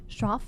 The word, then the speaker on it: Shroff: Shroff, is that how I pronounce her name? Shroff? Yeah, and she was Dr.